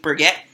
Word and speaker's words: Burgett: y'all how are you Jackson M of Nate Brigette I hope I'm pronouncing your last name right yep you nailed